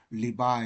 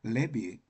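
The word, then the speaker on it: Levi: 자이 우리말로는 레위 그러는데 영어에서는 발음이 두 가지가 있습니다 리바 이렇게 발음하기도 하고 레비 이렇게 발음 두 가지가 있습니다 그래서 레위 집안의 한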